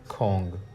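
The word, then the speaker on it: 공: ठीक है जी, यहाँ पे ये खे की आवाज़ देगा, ये ओ की, और ये जो हमारे पास साइलेंट होता था, जब ये लास्ट पे नीचे आता है या दरमियान में आता है, तो ये अंग या ओंग की आवाज़ देता है।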